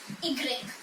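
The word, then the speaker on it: i grec: this is h we say ash and it's egreg so ash and igrill is sometimes considered as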